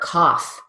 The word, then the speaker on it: cough: though good next word coughs this time we keep the F but we change the vowel so it's not going to rhyme with rough either it's going to be